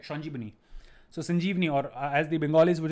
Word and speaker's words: Sanjeevani: Mitra, and the name of the paper was Sanjeevani, of course, as the Bengalis would pronounce it Shanjibani, right? The Bengalis would obviously call it Shanjibani because there's no V sound in Bengali.